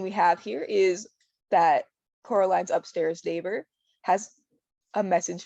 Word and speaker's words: Coraline: "No," said Coraline. The old man shrugged. "They are funny, the mice. They get things wrong. They got your name wrong. They kept saying Coraline, not Caroline.